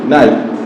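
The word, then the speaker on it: knife: আমরা যদি আবার একটা লিখি, কি লিখি নাইফ, কে এন আই এফ ই নাইফ, আমরা কি বললাম এখানে নাইফ, কে উচ্চারণ হয়েছে এখানে হয়নি।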